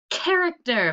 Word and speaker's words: character: what does this say character very good and what does the ch sound say in character says k just like in chorus that's our new learning